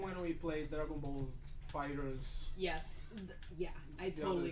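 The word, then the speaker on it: FighterZ: I had this feeling when we played Dragon Ball Fighters. Yes. Yeah, I The totally other get day. that. I wasn't here for Fighter Z, but if we do revisit it, Fighters.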